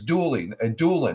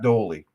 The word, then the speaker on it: Doolin: 1945, Doolin, it was Doolin, not Doley. I'm sorry, I mispronounced it.